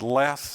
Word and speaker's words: Les: And you'll notice that underneath the caption, if you're able to read that, it says Bill and Les Hollon, and Les is spelled L-E-S-S. Like less than, you know.